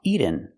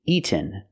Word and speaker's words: eaten: The word is not pronounced eaten. We cannot make a fast d here. We have to make a real t eaten.